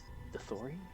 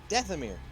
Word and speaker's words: Dathomir: Some from Manon, a couple from Dethori? I'm trying to say its name right. Pulling up its cargo manifest How do you and pronounce the name of your homeworld for your James? Dathomir.